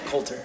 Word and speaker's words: Coulter: in quotation marks, Coulter, did I say it right? Yeah, Coulter.